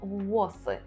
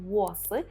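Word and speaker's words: włos: використаємо у реченні слово вос тут треба добре вимовляти Так це слово вос з нашим губним звуком в ВС так повторюємо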